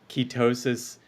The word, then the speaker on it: ketosis: said ketosis right yeah keys on your toes that that yeah I mean it Rhymes pretty well so ketosis is that